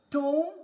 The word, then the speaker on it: tomb: Yes, whenever we find MB at the end of any English word or in the middle of an English word, the B must be silent letter.